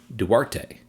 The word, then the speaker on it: Duarte: them correctly this time Duarte and according to my mother-in-law the emphasis is on the first syllable this is actually a two- syllable word and there's one more